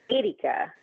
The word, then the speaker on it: Erica: Because in Italian it's Erica. It's like the E is pronounced like an A, so it's Erica.